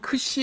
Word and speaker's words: xi: 이것 은 'k' 소리 뒤 에 's' 소리 가 오는 'xi' 라고 불립니다 . 이 단어 에는 'k' 와 's' 소리 가 모두 포함 되어 있습니다 .